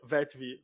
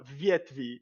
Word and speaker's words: Vetv: em russo, chama Vetv, não se pronuncia Vetv, fala Vietv, né?